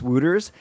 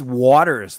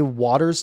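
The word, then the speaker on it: Wouters: i also in my pregame i said chase wuters and then and then i looked it up afterwards guess what so we're both wrong guess what it's actually pronounced is it actually wounders it's waters like okay here's the thing so i said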